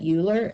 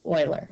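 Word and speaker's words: Euler: name started with e you do not say that uler unless you want me to uh seek you out and um want to punch you or something um that's Oiler okay you pronounce it that way so um Oiler was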